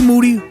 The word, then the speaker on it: Moody: of the year Moody whose last name rhymes with Duty always ready monetti